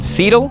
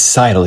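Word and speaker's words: Seidel: 8 oz bullhide from seedle sidel cidal I'll put the correct pronunciation here but it's cidal you idiot this is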